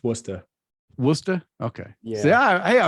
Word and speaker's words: Worcester: I'm going to say Worcester, Massachusetts. I think that's how you say it. No, don't, because you're going to get crap for that. It's Worcester.